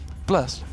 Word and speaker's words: Blerst: Blerst.